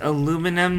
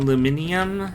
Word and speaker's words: aluminum: aluminum n yes and it's aluminum not aluminium thank you sorry to